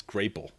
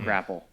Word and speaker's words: Grapple: I just realized I've been saying the name wrong of this product for the whole time it's it's grapal of course it's grapal why is it not grapple I've only read it